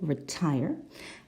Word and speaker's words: retire: secondary secondary and number four retire it's the second syllable retire and number five design again